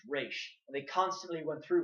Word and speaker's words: Ra's: Like that is how you pronounce it, and they've even made jokes like, "Oh, it's normal for you to say Raj al Ghul, but it's a mispronunciation. It's Raish."